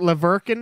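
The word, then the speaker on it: La Verkin: And then the town next to it, Leverkin. That's the other one, like Merkin, Merkin, Merkin.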